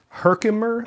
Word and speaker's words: Herkimer: which pass through a semi-precious crystals known as Herkimer. I think I'm pronouncing that correctly. Herkimer? Herkimer.